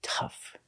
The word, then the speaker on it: tough: They're all spelled with OU, but we don't pronounce them ow. We pronounce them all with the sound like cup, up, and cut.